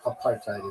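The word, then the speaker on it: apartheid: ever said and have you heard a South African ever say apart. No apartite is what they say.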